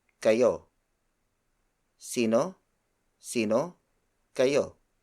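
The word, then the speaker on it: kayo: multiple people and then the second word is ko ko ko ko is spelled as K a why oh it means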